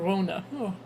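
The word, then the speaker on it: La Llorona: of that I was I was told how to properly pronounce it Lona okay if I'm gonna be living in New Mexico I better know how to pronounce this but uh when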